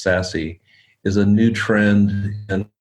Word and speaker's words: SASE: secure access service edge also known as sassy s-a-s-e but pronounced sassy is a new trend